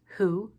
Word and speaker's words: who: again there's an exception sometimes the WH will make just an H sound with the W being silent as in the words who and hole the wa